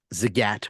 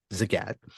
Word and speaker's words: Zagat: his wife Nina um always used to say that it rhymes with the cat so that's how I know it's pronounced Zagat and the Zagat guide